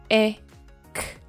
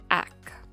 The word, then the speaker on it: ek: Ek ek. Now note that some people pronounce it ek and others pronounce it ak.